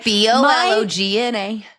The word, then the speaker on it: bologna: Bologna. Oh, okay. That is correct then. Yeah. I always thought it was Baloney, but I did not grow up here.